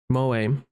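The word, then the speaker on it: 萌え: Moe, pronounced moe, moe moe cute.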